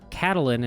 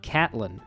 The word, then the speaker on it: Catelyn: the Starks you're thinking why is he pronouncing her Katalin and not Catelyn well that's because I found a so spake Martin and George says you're supposed to pronounce it Katalin not Catelyn surprised now she's over